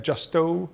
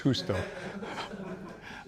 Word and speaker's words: Justo: j s t o That's South American right justo no I'm kidding it's husto I thought you would jump out of your